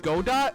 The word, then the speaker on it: Godot: were so unpopular oh it actually is pronounced godot oh really i thought it was good kind of like waiting for godot is that like